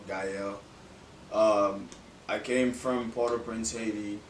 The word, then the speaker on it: Gaël: Most people misspell my name or mispronounce it, but it's okay. But it's just Gael, Gaël.